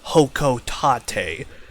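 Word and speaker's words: Hocotate: do know the plants apparently pronounced hokotate however I hate that name and refuse to call it by such it's hockey tape okay deal with it please and thank you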